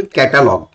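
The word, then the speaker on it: catalog: टी एल ओ ji, pronunciation is कैटलॉग, हम लोग क्या बोलते हैं कैटलॉग बोलते हैं, लेकिन स्पेलिंग देखो सी ए टी एल ओ जी कैटालॉग equal to school, it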